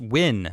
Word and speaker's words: Nguyen: see you ornstein okay brandon nguyen says it's win yeah sorry i it's